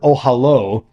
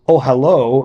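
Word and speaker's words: אהלה: comments on the word ohalo uh the word ohal means uh tent so ohalo means his tent which is pronounced consistent with its usual spelling as if the last letter were the letter VAV in Hebrew the masculine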